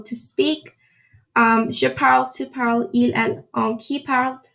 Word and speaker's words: parlent: Je parle, tu parles, il, elle, on, qui parle. Nous parlons, vous parlez, il et elle parlent. Remember, here you don't pronounce the ENT because if you do,